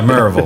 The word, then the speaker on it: Maryville: First, you have to pronounce Maryville correctly. Okay. Yeah, Maryville. There is no Y in Maryville.